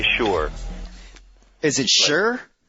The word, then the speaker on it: Schur: I say Mike Schur, like someone who makes shoes.